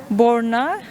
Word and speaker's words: Borna: Benim adım İran'da Borna. Yani Berna ile aynı ama telaffuz farkı var.